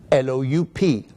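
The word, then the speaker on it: loup: strange things about French they very often do not pronounce the consonants at an end of a word which means to represent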